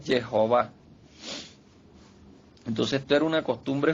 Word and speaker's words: Jehová: Para mí la pronunciación correcta es Jehová.